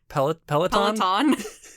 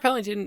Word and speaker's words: Pellington: directed by mark pellington but i kept saying mark pellet peloton um so mark pellington he was mostly a